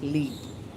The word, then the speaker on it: Li: from Live Life with Lee. Many people are not able to pronounce my channel. Some pronounce is like Live Life with Li, but actually it is Live Life with Lee.